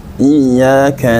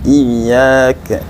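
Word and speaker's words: إياك: atau tidak dengan tasydidnya iyyaka na'budu Wa iyyaka nastain kalau kita membacanya iyaka ee kalau kita membacanya iaka nabudu wa iaka Nain I Maka nanti artinya berbeda yang tadinya hanya kepada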